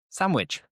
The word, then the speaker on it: sandwich: Most people would remove the D and it becomes sandwich.